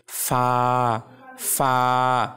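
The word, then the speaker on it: ف: ফায়ের উচ্চারণের সময় যখন দাঁত ঠোঁটের সাথে লাগবে তখন হালকা বাতাস বের হবে এবং তখন উচ্চারণ হবে ফা ফা।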